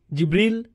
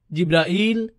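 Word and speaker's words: Jibril: ভাবে উচ্চারণ করেন তার নাম জিব্রিল, জিব্রাইল, জিব্রাইল, জিব্রাইল, জিব্রিল।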